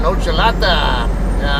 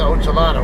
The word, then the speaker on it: Ochelata: Locals tend to call it Ochelata. I'm not going to call it that. You guys know how I am about pronouncing things the proper way. It's just, let it go. I don't believe Ochelata is the proper way to pronounce it. I'm going to pronounce it Ochelata, whether you like it or not.